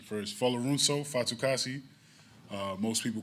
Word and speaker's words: Folorunso Fatukasi: I'll go to pronunciation first. Folorunso Fatukasi.